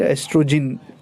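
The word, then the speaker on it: oestrogen: The spelling is quite different, ओ को silent, ओ ई को silent, एस्ट्रोजन, ओ को साइलेंट करके एस्ट्रोजन, एंड the second thing what they secrete is progesterone, ठीक है।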